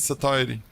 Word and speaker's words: satiety: is a word why why is it sa TIY and satiated what it is it is definitely not s siy it is even weird to pronounce because it is it is wrong it is satiety but when you remember